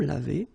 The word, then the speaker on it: lavés: Nous nous sommes lavés. So remember, final S is not pronounced.